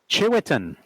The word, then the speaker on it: Tshiuetin: Chiwetan. Yeah. Don't ask me to spell it.